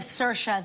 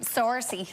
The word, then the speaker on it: Saoirse: people tend to look instead of Saoirse they say well sorce like the like it says in the monologues or see or say arises is a popular